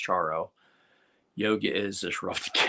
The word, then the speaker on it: Charo: As a kid, I pronounced it Charo, but I think it's actually pronounced Charo.